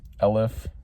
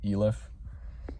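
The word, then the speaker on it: elif: Lif. I learned that it's pronounced L if not ELF.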